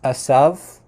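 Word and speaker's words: עשו: And then for the name Isa, or in modern Hebrew it's pronounced Asav. So it's a little bit different, but that's probably not how it was pronounced in biblical times. The V at the end was probably more like a W sound, so it probably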